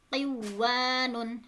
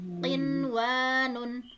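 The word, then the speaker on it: قنوان: Jadi tidak dibaca aduya, buyanun, siwanun, tiwanun, tetapi dibacanya izhar atau jelas. Adunya, bunyanun, sinwanun, tinwanun.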